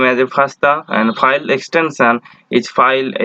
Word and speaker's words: FASTA: There are different kind of file formats like FASTA format, GenBank, EMBL, AVI, PDF, SwissProt, BAM, SAM, SFF, etc. Next, I will discuss about FASTA format. FASTA format is pronounced by fast A.